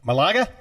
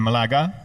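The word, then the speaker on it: Málaga: drink we're yeah Oh Malaga yes we call it malaga malaga where's malaga near they in spanish the accent is always on the last syllable yeah mark is on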